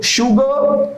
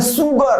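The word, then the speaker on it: sugar: Okay, शुगर हम लोग क्या बोलते हैं? सुगर, सू नहीं भाई, सू वाला नहीं, शुगर। ये बड़ा वाला श का उच्चारण है। देखिए सिंबल भी ये लिखा हुआ है, ये बड़ा वाले श का सिंबल है, शुगर।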